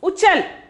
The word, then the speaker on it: उछल: The next one is uchal. The next one is uchal. Uchal, pronunciation is uchal.